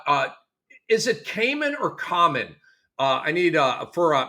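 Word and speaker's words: Khaman: and then uh uh is it Cayman or Common? Uh I need uh for Maluatch. I know how you say his last name, Maluatch. Uh is it it's Cayman, right? I thought it was common.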